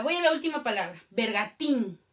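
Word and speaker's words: bergantín: Bergatín. ¿Qué tipo de palabra es bergatín? Tiene tilde todavía. Aguda. Termina en N con tilde.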